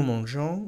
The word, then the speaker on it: mangeons: estudiado, y es que hay que añadir una E entre la raíz y la terminación de la primera persona del plural para conseguir que se siga pronunciando el sonido je.